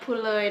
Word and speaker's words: Phou Louey: So we made it to the visitor center at the national park, and the proper way to pronounce it is? I'm at Phou Louey National Park. Exactly what she said.